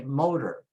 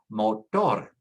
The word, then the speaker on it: motor: We say motor, tractor, doctor. However, in Spanish, because it ends with a consonant, we have to put the stress on the last syllable. So you say motor, tractor, doctor, color, actor, favor.